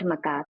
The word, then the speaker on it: macaque: animal kingdom, you specifically study gold-tailed, is it macaque? How do I pronounce that? The lion-tailed macaque.